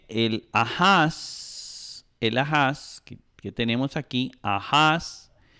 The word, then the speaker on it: Ahaz: Luego sigue el Ahaz, que tenemos aquí, Ahaz, que se puede pronunciar también Acaz, ¿verdad?